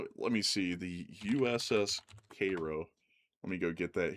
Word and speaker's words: Cairo: Also, by the way, folks, some of y'all are like, "Isn't that Cairo?" It's weird. There's this town in Illinois called Cairo, but for some reason it's called Cairo. I don't even know why.